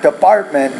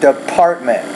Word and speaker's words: department: The P you want to pronounce with more air. Not department, but department.